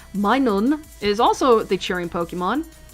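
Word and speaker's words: Minun: Next up is Minen. All right. uh min which is the same thing but it would probably be pronounced as minon is also the cheering Pokemon.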